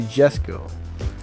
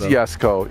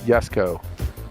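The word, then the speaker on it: Jesko: So it is Yesco. Yeah, people are confirming it's Yesco.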